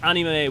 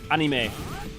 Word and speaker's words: anime: by him yes technically many people still pronounce anime wrong well like yes anime would be technically more correct but um May I mean yeah because you should be ah instead of eh but like that one's